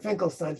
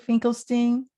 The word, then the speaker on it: Finkelstein: Well, then you hear, you see Finkelstein. Oh, that's even funny. Steen is how New Yorkers pronounce it. Yes. Stein is how Germans.